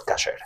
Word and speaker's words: kasher: O kosher, como lo quieras decir, pero aunque realmente es pronunciado en sefaradí, en pronunciación sefaradí es kasher.